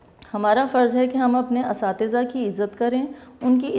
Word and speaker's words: اساتذہ: اگر لکھ ٹھیک بھی دیں تو بولتے ہیں استاذہ. یہ لفظ استاذہ نہیں ہے بلکہ یہ لفظ ہے اساتذہ.